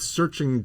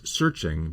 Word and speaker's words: SearXNG: but at the same time, I've seen other tools that use the chi means that the X is a k sound.